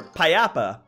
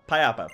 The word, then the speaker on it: Payapa: Papa berry. Or Payapa. Payapa. Pronounce it correctly, British.